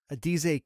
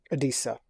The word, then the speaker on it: Adisa: I have Adize King or Adize Isaac. I don't know why you said King. Am I pronounced? How did I do in that pronunciation, Kyle? Adize? Adisa.